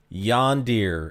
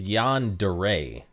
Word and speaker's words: yandere: Just like I've heard some people pronounce yondeer as yondeer. And I've heard some people pronounce that word as yandere. But someone in my chat mentioned it's yandere. So I've been pronouncing it that way.